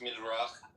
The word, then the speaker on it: Midrash: It's actually pronounced Midrach.